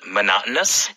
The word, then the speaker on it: monotonous: Do I sound monotonous? Do I sound monotonous? 방금 우리가 important 말한 것처럼 비슷한 발음이 또 나옵니다.